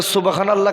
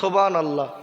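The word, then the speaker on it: سبحان الله: জোরে বলুন সুবহানাল্লাহ। সুবহানাল্লাহ আসলের উচ্চারণটা ঠিক হচ্ছে বলে মনে হচ্ছে, বক্তারাও বলে ফেলে জোরে বলুন সুবহানাল্লাহ। এটা সম্পূর্ণ ভুল।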